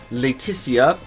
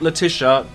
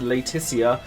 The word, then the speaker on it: Laetitia: planet where he finds Laetitia, very clearly pronounced that, not Letitia, it's Laetitia, the princess of the planet's major kingdom.